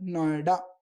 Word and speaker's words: Noida: अब इनको एक साथ हमने इसको प्रोनाउंस किया तो इसका आया नोएडा।